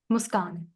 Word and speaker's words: Muskan: Muskan. Muskan. Oh, Yes, your nice.